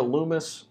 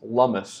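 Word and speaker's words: Lummis: so u.s senators cynthia loomis or i'm sorry it's lumus it rhymes with hummus i want to show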